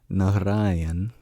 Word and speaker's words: Narayan: And that is because the final N sound of Narayan is a retroflex N, which we don't have in English. So instead of putting the tip of the tongue at the back of the teeth, how we normally pronounce N, na na na na na, we curl